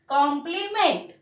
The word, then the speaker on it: complement: अब मैंने बाजू में देखिए कुछ और लिखा है, कॉम्प्लीमेंट। देखिए, कॉम्प्लीमेंट का मतलब क्या होता है, पूरक। और एक बात याद रखना, कॉम्प्लीमेंट यानी जैसे हम कहते हैं प्रशंसा, तो कॉम्प्लीमेंट का प्रोनाउंसिएशन सेम है, पर इसमें देखिए